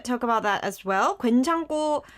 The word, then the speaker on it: 괜찮고: Gwaenchanko um It should be pronounced gwaenchanko because under tan there is this ku sound, and it moves on to the next syllable, and it makes a gwaenchanko.